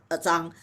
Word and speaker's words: Zhang: right, You, she is also a Zhang. My Chinese pronunciation is Zhang, little more on the Z, on the Z.